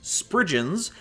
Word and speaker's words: Spriggans: Spriggans, or as I learned how to pronounce them in research, Spriggans, are fairies of Cornish